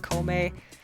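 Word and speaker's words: 孔明: but i guess that's how you spell but pronounce it komei it's uh it was fun the main characters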